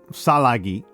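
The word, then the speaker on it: Tsalagi: So, the Cherokee Salagi, uh, as I've learned, as I've been told is a more correct pronunciation.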